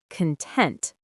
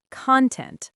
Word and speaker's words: content: Be careful with the pronunciation here. It's content, not content like video content.